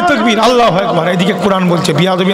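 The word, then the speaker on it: الله أكبر: আচ্ছা আল্লাহু আকবার অ্যাকচুয়ালি উচ্চারণটা কি? আল্লাহু আকবার, তাই তো?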